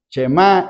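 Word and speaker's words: Shemá: La chemá, porque la palabra oye, el verbo oye, así se pronuncia, chemá Israel.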